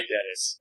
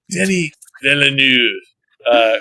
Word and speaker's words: Denis Villeneuve: was so epic that I don't mind pronouncing Denis Villeneuve, like the full French pronunciation to his name. Like, all right, Dennis. But no, it's Denis Villeneuve.